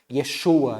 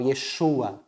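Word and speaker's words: יֵשׁוּעַ: Yeshua, né, o nome de Jesus pronunciado na língua, vamos dizer, original. Yeshua, né?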